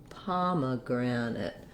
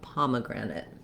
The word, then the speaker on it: pomegranate: syllables have reduced vowels this is where my primary length is going to be so i'm holding the palm syllable the longest but i have a little maybe a little length because of my clear vowel on the grand syllable so pomegranate for all